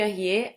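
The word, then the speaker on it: Ariès: historiador chamado Philippe Arié, se escreve Aries, tipo Aries, tipo do signo, Ares.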